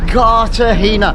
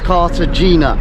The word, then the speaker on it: Cartagena: what can i say carter hina right the the the challenge is today is how many times i pronounce it as carter gina but it's not it's a the g is actually a h but there we go